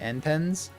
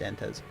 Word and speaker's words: Antez: I don't know why my brain cannot pronounce the second N in your name. Antens? Antens. No, just Antez.